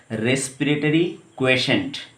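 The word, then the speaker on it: respiratory quotient: इसका प्रोनाउंसिएशन इस तरह से होता है, रेस्पिरेटरी क्वेशेंट, ठीक, जिसको मैंने RQ के नाम से दिखाया, ऐसे ही बुक में लिखा जाता है, ठीक है।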